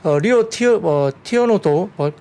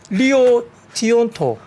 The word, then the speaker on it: 리오 틴토: 리오 티오노도 17만 톤. 뭐라고요? 리오 티온토.